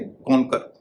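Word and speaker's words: conquer: इसी तरह से कॉन्कर, इसमें भी क्यू का उच्चारण क हो रहा है।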